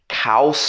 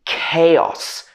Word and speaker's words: chaos: next one is chaos a lot of people will pronounce this as cows or something like that especially europeans but it should be chaos the next one is